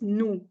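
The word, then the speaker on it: nous: yes no without the we don't pronounce the S just no no okay Christiana was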